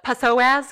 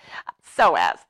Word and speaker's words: psoas: going to do is the psoas or some people call it the passo s because that's how it's spelled it's like aaron or d nice you guys know what i'm talking about so as so psoas actually comes